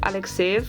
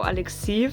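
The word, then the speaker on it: Alekseev: __ ] obsessed with I did look up how to pronounce his name correctly which supposedly is Alec save and I don't know how Alexeev happened I think it's just that when I'm talking in English I also can't say Hamburg is a Hamburg and that I'm giving everything this English pronunciation just bear with that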